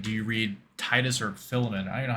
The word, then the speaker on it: Philemon: Who How often do you read Titus or Philemon? I don't even know how to say it. Is it Philemon?